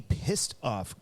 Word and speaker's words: Pistoff: we are smoking the pissed off Christoff and no I didn't swear that doesn't count toward the change jar n uh it is spelled p i s t FF we are smoking to